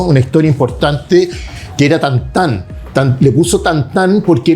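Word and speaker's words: Tintin: En francés se pronuncia tantan, entonces le puso tantán como joda.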